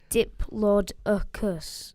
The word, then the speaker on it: Diplodocus: Diplodocus. You can't really write it. Like, it's Diplodocus. Yeah, Like, but you can do it. Diplodocus or- Or you can say it rhymes with or whatever.